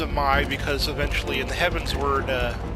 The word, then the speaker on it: Dzemael: This is Dzemael Darkhold, and we know it's pronounced Dzemael because eventually in the Heavensward expansion you'll actually hear this name spoken.